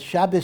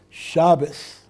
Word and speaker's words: Shabbos: In Yiddish, the accent happens to be on the first syllable, Shabbos, as opposed to Shabbos, right?